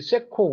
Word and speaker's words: CECO: 이제 대략은 이제 최근에 역할 변화, 그 다음에 우리 세코 운영 현황, 그 다음에 세코는 참고로 창원 엑시비션 컨벤션 센터 그래서 우리 CECO 세코라고 발음하고 있습니다.